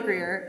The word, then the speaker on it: Greer: The only part I found hard was pronouncing the R in Greer when I was little.